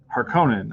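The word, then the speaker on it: Harkonnen: Studios we have Dune house harkenin or harkonen as some other people pronounce it a spice must flow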